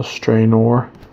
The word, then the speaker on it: Strainor: It's spelled strain with an O-R at the end, so Strainor.